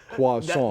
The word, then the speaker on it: croissant: You can also annoy all your friends by referring to them using the proper French pronunciation, croissant.